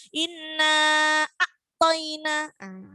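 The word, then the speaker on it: إِنَّا أَعْطَيْنَا: Ketika ada ain yang disukun berarti harus bacanya harus mengalir, nggak boleh terputus. Inna a'toina. Inna a'ta. Jadi harus mengalir.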